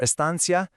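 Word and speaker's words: estancia: And for Estansia, you'll hear the C pronounced like a th in Spain, or just a soft S pretty much everywhere else.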